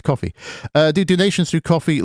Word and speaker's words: Ko-fi: donations through coffee coffee I have to call it cofi because of the way it's spelled but obviously it's coffee uh do donations through